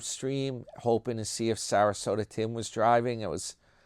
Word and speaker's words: Sarasota: So, uh, yeah, that's what's that's basically what's going on with Sarasota. Rhymes with Yoda.